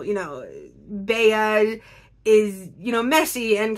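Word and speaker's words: Bea: a lot uh and Baya I'm not sure exactly there's so many different ways to pronounce the nickname b-e-a I'm going with Baya because I think that's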